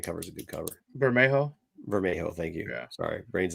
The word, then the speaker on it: Bermejo: I mean, the Bolero, whatever, however you say his name. I bet you guys are gonna pick him later because that Spider-Man cover is a good cover. Bermejo, thank you.